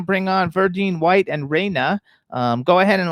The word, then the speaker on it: Reina: hello oh my gosh rayna you are so beautiful is that how you pronounce your name am i pronouncing it correctly raina yes you are pronouncing it right it's raina nice to meet you all